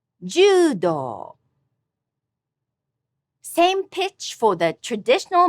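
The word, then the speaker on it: 柔道: Judo, judo. Same pitch for the traditional martial art of fighting with bamboo sword, which is kendo, kendo. The art of traditional calligraphy is shodo. All these have high-low pitch accent.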